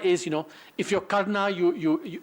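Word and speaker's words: Karna: characters in The mahabarata I don't say Kar which I probably should but I I say Kaa and my apologies for that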